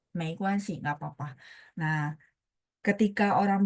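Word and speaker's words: 没关系: 没关系 itu arti sendiri, tapi dia pininnya begini, Tiwi. 没关系 ya, nggak pakai G, tapi pakai GUAN ya, G yang apa di kuan itu harus dihilangkan.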